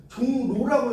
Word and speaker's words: 종로: 그 다음에 종로, 감리교 같은 경우는 리을이 니은으로 바뀌어요. 이거 읽을 때 여러분 읽어보세요. 종로라고 읽어요.